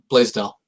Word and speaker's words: Blaisdell: Oh, I pronounce Blaisdell.